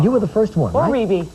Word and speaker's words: Rebbie: were the first one Reby Reby thank I heard about yesterday yeah but you know what it's the way it's spelled it's a natural thing to call it re looks like Reby so how you doing